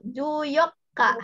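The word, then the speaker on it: じゅうよっか: Ya, jadi 14 itu juyokka. Haite kudasai. Juyokka. Ya, ini harus ditekan karena ada tsu kecil ya, jadi ada tasdidnya. Jadi ya disentak gitu ya. Jadi juyokka.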